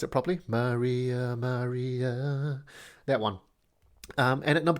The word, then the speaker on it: Maria Maria: Yes, and I did want to pronounce it properly. Maria Maria.